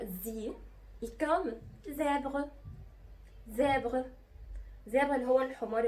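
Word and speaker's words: zèbre: اخر حرف معانا هو الزاد، والزاد دايما بنطق زي، كم زابغ، زابغ، زابغ اللي هو الحمار الوحشي المخطط، زيبرا، زابغ.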